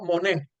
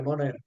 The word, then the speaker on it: Moner: Tú pronuncias tu apellido Monet. No, pronunciando la R. ¿Tú pronuncias la R, Moner?